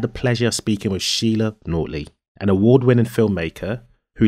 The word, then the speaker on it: Sheila: but throughout the interview, I was calling Sheila, Shayla, because one of my best friends, who's practically a sister to me, her name is pronounced Shayla and it is written Sheila.